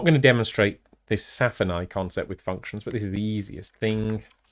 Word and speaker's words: SFINAE: I think is quite often how it's pronounced. It's SFINAE, which stands for Substitution Failure is Not an Error.